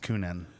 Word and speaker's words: Kuhnhenn: I think it's just Kuhnhenn. Kuhnhenn Brewing? Because Kuhn is Kuhn, and then it's hen, H-E-N, and so Kuhnhenn.